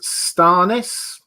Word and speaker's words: Stannis: Jewel Elson saying George R. R. Martin pronounces Stannis Starnis.